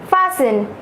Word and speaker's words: fasten: Fasten, F-A-S-T-E-N. Remember, in these two words, T is silent.